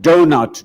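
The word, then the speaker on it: doughnut: the start of it we spell the word donut d-o-u-g-h-n-u-t why only to not actually pronounce three-eighths of the letters donut d-o-n-u-t it should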